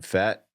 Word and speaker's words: Pfaadt: So the Diamondbacks are starting Is it Fat? Brandon. Gray is 4th. How do you say that last name? Fat?